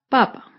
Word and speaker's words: papa: ortográfico en este ejemplo la primera palabra papa no tiene tilde y el acento está en la primera sílaba papa con la segunda palabra